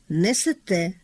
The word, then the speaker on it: несете: У низці дієслів літературний наголос припадає на останній склад. несете, берете, живете, даєте.